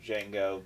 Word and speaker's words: Django: he goes you know Django the D is silent the guy that says